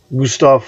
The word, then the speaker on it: Gustav: Warcraft I'm Gonna Keep Gustav from fast that's how you properly pronounce his name the V's in German are pronounced like F's Gustav fun so